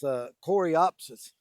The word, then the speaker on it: Coreopsis: Even though I keep forgetting its name or forgetting how to pronounce it, but it's Coreopsis.